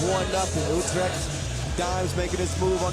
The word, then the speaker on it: Utrecht: And I don't know if I'm even saying Utrecht right. That's a G, but that hard G is tough for you. Utrecht. Utrecht.